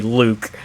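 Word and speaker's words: Luuke: Because it's still supposed to be Luke, but then it's Luke in the writing, but in the pronunciation, it's meant to still be Luke.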